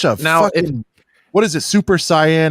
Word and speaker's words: Super Saiyan: turned into such a now what is a super cyan how do you say it Brent Super Saiyan but like no listen like what the Super